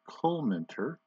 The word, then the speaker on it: Collmenter: There's the pronunciation guide, Collmenter.